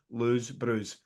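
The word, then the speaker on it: Lou Brews: Our good talking about heroes, Lose Brews, LOU_BREWS. That's how you pronounce it, Lose Brews.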